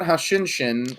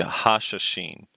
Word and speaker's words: Hashashin: It's not Hashinshin, which I think is a League of Legends player. Someone told me that the pronunciation would be Hashashin.